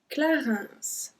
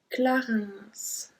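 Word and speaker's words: Clarins: bourgeois bourgeois then me Clarence Clarence and we have to pronounce the S at this one Clarence after after we say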